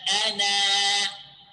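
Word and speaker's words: أنا: But if I want to stop on ana, so I will, you know, pronounce the alif here. Okay, so again. Wala ana abidun. Okay, if I want to stop on ana, how I stop? Like this. Wala ana. You see, I pronounce the vowel.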